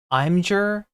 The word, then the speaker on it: Imgur: As a super chatter, I say it should be pronounced Imgur, and I am correct.